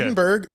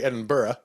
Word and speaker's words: Edinburg: Ed Iowa yep okay Edinburg which you notice I didn't say Edinburough right yeah it's because